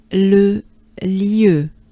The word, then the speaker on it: Le lieu: Le lieu, it means the location, the site, the place. Le lieu.